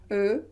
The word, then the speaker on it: eu: conjugué au passé composé est là on ne prononce pas comme ici euh non en prenant ce comment donc prononcer u